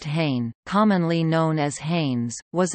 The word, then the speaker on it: Hahne: Hahne and Company, pronounced Hahne, commonly known as Hanes, was a department store chain based in Newark, New Jersey.